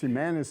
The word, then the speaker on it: Gimenez: Um, Himmanis, Gimenez, however you want to pronounce it. It's Himmanis in Spanish.